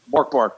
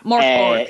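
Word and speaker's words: Mörk Borg: Am I correct in pronouncing Morkborg, yeah. Morkborg. Yeah, Morkborg.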